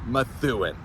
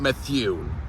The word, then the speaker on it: Methuen: me work on that Methuen that is the correct way to say this the town of mathuin not Matthew all right guys here's